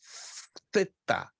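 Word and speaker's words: θῆτα: E essa letra se chama theta. Theta. A pronúncia dela é como TH em inglês, think, a palavra coisa.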